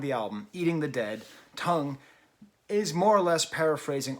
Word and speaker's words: Tunng: british folktronica group tongue is that how you pronounce it with the two ends you just call them tongue or do you call them tongue i think i'll call them tongue it's more fun that way so let's actually get